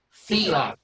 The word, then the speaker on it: Fila: Is it Fila? Is it a harder E? Second, it's Fila. Fila.